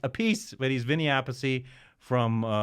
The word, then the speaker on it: Appice: So this is Vinny Appice, or Appice. His brother says their last name is pronounced Appice, but he's Vinny Appice